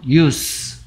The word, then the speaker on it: use: use. 사용하다. use라 했어. 얘를 z라고 발음하면 동사라 했고요. s라고 발음하면 명사라 했어.